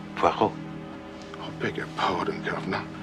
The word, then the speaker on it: Poirot: I've got a parrot with Mr. Poirot. No. Poirot. It is pronounced Poirot.